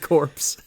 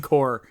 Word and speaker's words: Corps: You said corpse. The CCC. I know, you meant the Conservation Corps. Corps, sorry. It's spelled like corpse.